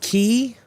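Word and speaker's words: Kei: Oh, it's pronounced key. Oh, it's pronounced key. Okay. It's not Kai.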